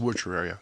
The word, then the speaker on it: Wuchereria: how to say it it's a witcher area it's which if you look at the word it's not hard woocher was the guy and area is his disease yeah got it ben